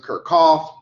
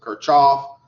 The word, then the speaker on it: Kirchhoff: some people pronounce it Kirchhoff, some people pronounce it Kirchhoff. I don't know which it is. The guy was German, and the Germans have really hard syllables. So it's probably Kirchhoff, like you're coughing.